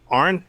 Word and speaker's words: Aaron: We got Arn, right? Did I say it correctly? Sir. Arn, like Arn's a nurse.